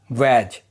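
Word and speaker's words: badge: देखो अगर डी के बाद जी आए तो डी साइलेंट रहता है। एग्जांपल वैज जिसका मतलब होता है प्रतीक। एज जिसका मतलब होता है किनारा। इन दोनों वर्ड में देखोगे डी के बाद जी आया है। इसीलिए डी साइलेंट है।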